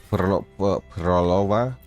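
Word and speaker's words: Phrolova: I am expecting the schoolgirl, whatever her name is, to be Havoc, because it makes sense for Cantarella and Prolova. That's how it's pronounced.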